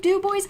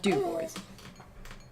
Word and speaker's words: DuBois: hats i frickin do every day city of Dubois I know I do 10,000 frickin hats that